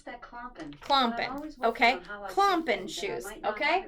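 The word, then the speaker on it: klompen: Alexa pronounced KL o M p en I pronounce that clomping clomping ok clomping shoes ok right so those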